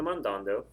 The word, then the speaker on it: mandando: attach these to the mandando think about how you say mandando mandando mandando the stresses over the second a again so I could